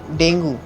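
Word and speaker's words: Dengue: उसके बाद friends डेंगू। Friends, इसका अगर आप करने प्रोनाउंसिएशन देखेंगे तो इसको डेंगू नहीं डेंगी होगा।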